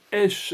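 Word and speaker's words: אֵשׁ: Le mot feu en hébreu se dit esh et il s'écrit avec la lettre shin.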